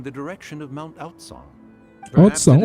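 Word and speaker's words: Aocang: Outsang, oh namanya Mount Outsang bacanya. Aku sering bilang itu Mount Ngaceng anjir.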